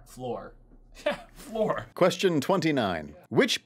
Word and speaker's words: Fleur: Fleur, it's like are you saying like FLUR? I think How do you say it? I think it rhymes with Delacour. So like Fleur Delacour. Floor.